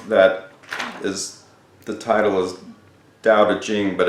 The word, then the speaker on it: Tao Te Ching: why a book that is the title is daodejing but it's spelt ta o te CH ing it is